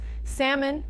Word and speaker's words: salmon: Salmon has a silent L.